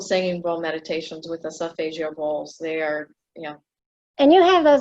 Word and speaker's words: Solfeggio: How do you pronounce it again? Solfeggio.